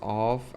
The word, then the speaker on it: of: We say of with a vv sound of and we say off with a f sound. That's the difference of and off.